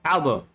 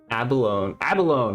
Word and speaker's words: abalone: Albone. Oh. Abalone. Okay, I'm pronouncing it wrong.